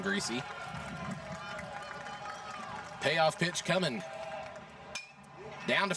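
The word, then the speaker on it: Griese: And a payoff pitch coming from TJ Greasesy. In case you're wondering, yes, it is spelled exactly like the former NFL quarterbacks, Bob and Brian Greasie.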